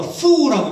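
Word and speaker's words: 福: 왜냐하면 복을 중국 발음으로 푸라고 읽습니다.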